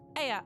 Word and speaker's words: Ea: When the vibration of vocal cords was still required to convey our thoughts and intention, Aya, I believe, was the pronunciation used when referring to our people.